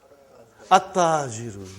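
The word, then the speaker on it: التَّاجِرُ: How will you pronounce this now? At-tajiru. You did not pronounce al. You did not pronounce lam.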